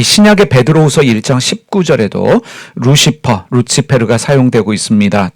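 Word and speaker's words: Lucifer: 있다 할지라도 아침과 여기에 라틴어 루치 페루 영어식 발음 루시퍼가 사용되어졌습니다 같이 될 것이요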